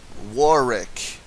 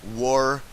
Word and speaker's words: Warwick: in the English language that silences one of the same letter within that word you know wari you know it's it's spelled w a r w i c k can you tell me